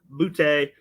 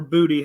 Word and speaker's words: Boutte: Kayshon Boutte, or Booty, however you pronounce it. I think it's Boutte, so I'm going to go with it like that.